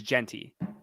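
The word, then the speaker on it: Jeanty: name like that because I think his name is jenty oh right jenty pretty sure his name is jenty I know it's spelled jti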